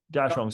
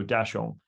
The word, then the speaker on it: Daxiong: Daxiong. So the X when we use it for Chinese words gives you like an SY sound, like xiong. So Daxiong.